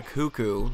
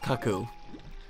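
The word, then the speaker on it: Cucco: a kid i thought it was called a cuckoo which makes which made sense to me because i thought i was just like a cuckoo clock but it is pronounced kaku we'll see that later in the game something's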